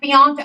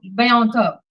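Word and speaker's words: Bianco: So just because a man like Bianca, Am I saying his name right? I say it wrong. Biano. Biano.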